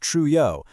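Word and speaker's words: Trouillot: If we apply the framework of anthropologist Michelle Ralph Truo, pronounced Truo, we uncover another dimension.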